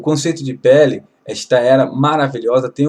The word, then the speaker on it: Pele: Aleph, nós leremos então Pele, pronuncia-se Pele, maravilhoso.